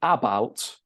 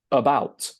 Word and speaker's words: about: We don't say about because we don't stress the first syllable, we stress the second, about.